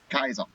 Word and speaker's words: Caesar: people pronouncing and then in game it's pronounced Kaiser which is kind of